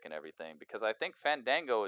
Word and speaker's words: Fandango: everything because I think Fandango is or fawn Dongo sorry I gotta pronounce it like that or else people get mad so on dongho I